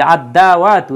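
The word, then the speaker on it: الدعوة: হ্যাঁ, এই যে আদ-দাওয়াতু, এই জন্য আদ-দাওয়াতু হয়েছে, এই যে এই জায়গায় আদ-দাওয়াতু দালের উপরে তাসদিদ দেওয়া হয়েছে, কারণ এই দালটা হচ্ছে সূর্যাক্ষর, অর্থাৎ এই দালের পূর্বে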